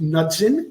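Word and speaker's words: Knudson: from one of our viewers Paul nudson I pronounce it nudson k n u d s n that I don't think it's kudon I think it's nutson any anyway Joe simply been preoccupied with little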